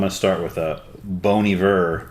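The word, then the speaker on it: Bon Iver: to start with a bony ver B bony ver how do you say it bony ver yeah Bon album which one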